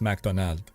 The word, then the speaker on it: McDonald's: we don't say yeah like in French McDonald's is pronounced macdonal there's no s but I think it's